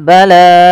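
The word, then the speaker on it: بلاء: Kemudian pada lafal bala mirbikum lafal la ada mad wajib muttasil yaitu kita panjangkan untuk lanya sepanjang empat atau lima harakat sebagaimana tadi yang kita bahas yaitu mad wajib muttasil.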